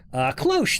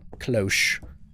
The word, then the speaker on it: cloche: Yes, that is it. Cloche. I thought that's what it was, but I didn't want to mispronounce it or maybe say a naughty word that was close to it.